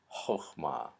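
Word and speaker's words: חכמה: And you'll notice that that first syllable is a closed, unaccented syllable. So in this case, the little T-shaped vowel, which is almost always pronounced ah, is pronounced o. So it's chokhmah.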